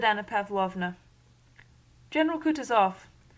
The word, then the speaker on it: Kutuzov: General Kutuzov, said Bolkonsky, speaking French and stressing the last syllable of the general's name like a Frenchman, has been pleased to take me as his aide-de-camp.